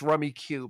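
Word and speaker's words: Rummikub: It's spelled Rummy, but K-U-B. K-U-B. Yep. It's Rummy Cub. Yep. But it's Rummy Cube.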